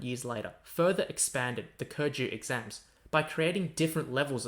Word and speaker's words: Keju: kurju examinations were born kurju pronounced in chinese as kurju means subject recommendation originating